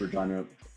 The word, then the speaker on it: Regina: Regina rhymes with fun.